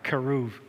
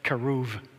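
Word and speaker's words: כרוב: Hebrew, keruv. And if B is preceded by a vowel in Hebrew, we pronounce the B as a V, V, keruv.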